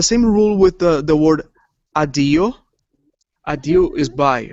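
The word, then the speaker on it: αντίο: And the connection ni and tau should be pronounced nd, but some people don't pronounce the n. That's what makes adio instead of undio.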